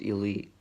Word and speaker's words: e1337: The second thing is my website e1337.world is pronounced elite.